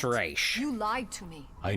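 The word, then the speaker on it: Ra's al Ghul: team I guess sometimes they people will also pronounce it as Razz Al Gore not even you nope it's race you lied to me I needed a sample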